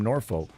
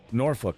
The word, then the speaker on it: Norfolk: like, "Bitch, I'm from Norfolk." Norfolk, sorry, no, not Norfolk. It's it'd be Norfolk. Norfolk. I don't know. There's like a silent L in there somewhere.